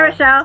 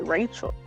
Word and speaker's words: Rochelle: I know, because everyone calls me Rachel. Oh, well, it doesn't look like it's spelled like Rachel, so I'm like, so.